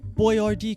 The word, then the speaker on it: Boyardee: hector sauce the chef boyardee company they spelled the name phonetically to keep american tongues from twisting on the italian pronunciation but who is this